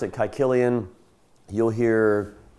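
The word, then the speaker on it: Caecilian: Yes, I pronounce it kyillian. You'll hear quilian.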